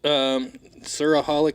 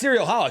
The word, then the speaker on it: Cerealholic: Suraholic Cafe. How do you say? No, that's Cerealholic. So that's what I thought you were describing because I actually.